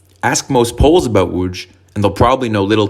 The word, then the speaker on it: Łódź: city the city of Lodge or locally pronounced ask most polls about wuj and they'll probably know